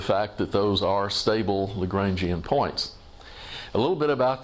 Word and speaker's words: Lagrangian: pronounced his name Lagrange, but it sounds fakey and weird to talk about the Lagrangian point. So now that that's an English word, I'm just going to call it Lagrangian.